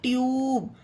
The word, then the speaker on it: tube: उसी तरह TUBE ट्यूब। अब देखिए इसमें भी गाइस टी के बाद यू के बाद एक लेटर को छोड़कर ई है ना, ई।